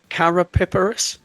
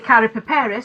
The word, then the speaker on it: Karapiperis: It's Karapiperis. That's excellent. Excellent. Yeah, well, we do say Karapiperis, so the accent's maybe in a slightly different place.